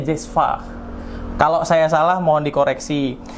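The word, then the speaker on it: cezve: Nah, kalau nama alatnya sendiri, nah Sobat JPW bisa banyak sih pengucapannya, cuman bahasa asli Turkinya itu namanya Cezva. Tulisannya Cezva, tapi bacanya Cezva.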